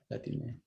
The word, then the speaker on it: Latine: Latine. There you go. Yes, the E at the end. It's because it's the one that it makes more sense on the Spanish language.